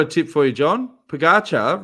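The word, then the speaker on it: Pogačar: Pogacar rhymes with Fakasha.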